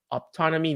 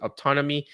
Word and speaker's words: Optonome: Optonome, now I know it. I used to pronounce it Opton O or whatever. Now I know how to pronounce it, Optonome.